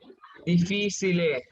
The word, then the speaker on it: difficile: Difficile. We pronounce Difficile. here chi. Okay, Chi. difficile. Correct.